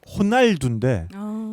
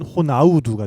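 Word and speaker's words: Ronaldo: R 사운드 같은 경우에는 히읗 발음으로 하는 것이 도드라지기 때문에 뭐 일례로 그러니까 축구 선수 이름 중에 호날두 같은 경우에는 이제 R 발음은 H로 하는데 그게 이제 포르투갈식으로 발음하면 호날두인데 이거를 같은 이름이지만 브라질식으로 발음하면 호나우두가 되고요.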